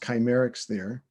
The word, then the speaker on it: Kcymaerxthaere: And so it's pronounced Kcymaerxthaere, just like it looks.